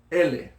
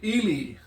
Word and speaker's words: ele: Now, if you see this word anywhere else, you might want to say ili. Yeah? But that's not how you pronounce it properly. If you use the E properly, it is pronounced E.